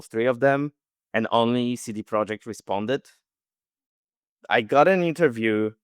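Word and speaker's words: CD Projekt: is just a disaster I think they say CD project okay but for me it's the project right so okay you should ask some from them all right I thought that like as your first day you get like, okay, if you're speaking English, you need to pronounce it this way because to me, this is so confusing. I never know. I just always say both. Say both like city project, see the project.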